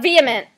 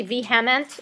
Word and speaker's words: vehement: All right, and then vehement. And you look how the H is silent there, so just note that so you don't say vehement or anything like that.